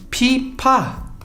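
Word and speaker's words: 피파: Eles falam pipa. Por quê? Porque não existe FVZ, certo? O F grande das maioria das vezes, ele é escrito com pia, que é o mais parecido com F, certo? Então, pipa, eles falam pipa, né?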